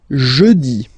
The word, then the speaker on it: jeudi: Next one, jeudi. Jeudi. Remember, when you combine this u, you get the sound jeudi, jeudi. So I insist a little bit, so make it softer.